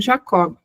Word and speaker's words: Jacob: Eu acredito que a gente deva pronunciar o nome do pai de Freud, não como Jacob, mas como Jacob, tá? que se trata de judeus aqui.